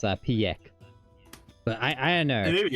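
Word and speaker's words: Pieck: Peak. I always think it was like pronounced Piek.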